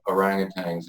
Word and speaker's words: orangutan: So you share the story of you and a few other guys confronting a pack of orangutans and how do you pronounce that word?